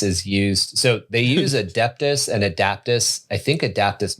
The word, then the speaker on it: Adeptus: It's not Adaptus. It's Adeptus. you just always say it wrong.